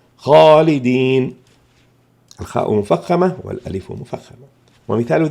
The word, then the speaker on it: خالدين: حرف تفخيم مثل خاء، إن جاءت بعدها ألف خالدين نفخم الخاء والألف فتكون الألف هنا مفخمة، لا نقول خالدين بل نقول خاء وليست خاء، فهنا تفخم الألف. خالدين الخاء مفخمة والألف مفخمة.